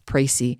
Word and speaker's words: Précis: C-I-S, Précis.